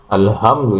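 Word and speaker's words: الحمد: Ada juga yang membacanya kebalik. Alhamdulillah semuanya ha. Tidak ada bedanya dengan hak. Nah, itu yang jelas salah. Bahkan merusak makna alhamdu ya. Alhamdu itu maknanya jelas beda dengan alhamdu.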